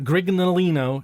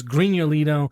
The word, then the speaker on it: Grignolino: It's Grigno. Lino. So that GNO is not it's not Grignolino, it's Grignolino.